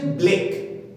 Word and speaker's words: Blake: প্রথমত বলে রাখি, উচ্চারণটা হচ্ছে ব্লেক, BLAKE, ব্লেক, ব্ল্যাক নয়।